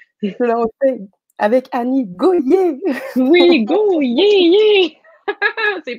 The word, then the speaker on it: Gohier: C'est drôle que tu dises Goyard parce que, en fait, mon nom se prononce Goyer, mais c'est vrai que ça Ouais, fait Go-Yard, comme si on allait, c'est tu sais, ça.